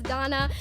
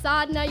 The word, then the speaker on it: Sadna: We'd be walking through the hallways freshman year, and she'd be like, hey guys, this girl's name's not pronounced Sadana, it's Sadna, you better get it right.